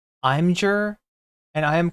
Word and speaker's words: Imgur: As a super chatter, I say it should be pronounced Imgur, and I am correct.